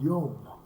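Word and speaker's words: יום: In Hebrew, day is pronounced Yom.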